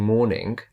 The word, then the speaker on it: morning: say morning morning morning so I'm saying morning but I'm not really pronouncing the G say morning morning so